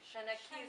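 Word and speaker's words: seanchaí: Shanaki, thank you. That's the pronunciation.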